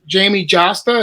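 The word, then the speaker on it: Jamey Jasta: got a a message from uh what's it Jamie josta is that how you say his name yeah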